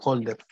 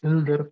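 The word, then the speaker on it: Hölder: de Hilder, o pues llamado típicamente desigualdad de Holder. Pero es Hilder porque en sí viene del alemán y es una O con diéresis, cuya pronunciación es más como una U, pero tampoco tan cerrada.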